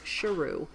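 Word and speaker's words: Sheru: and years and years he's been mispronouncing his name his whole life it's not Saru it's Shirou which means lion and then his brother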